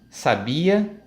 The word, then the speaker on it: sabia: mas nós temos sábia sabia e sabe a num caso nós temos aqui a sílaba tônica é a última no caso do sabiá em sabia a sílaba tônica é a penúltima e em sábia a